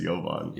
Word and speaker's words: Jovan: this American yeah what kind of a name is Yovan uh Joan my name uh is y That's the sort of the OG pronunciation of it I am Serbian contrary to